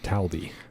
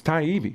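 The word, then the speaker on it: Taibbi: heard it's not hard Gerald call him Matt talby Matt talby Matt TB yeah Matt Tibby look tidy it's Thai ebi right there Thai taibi Tay I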